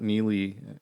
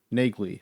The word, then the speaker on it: Neagley: books and i believe the pronunciation of her name is not nearly in the books it's uh nagley so um there's a